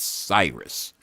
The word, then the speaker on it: Sirius: He says the pronunciation is Cyrus, and dumb fucks don't know any different.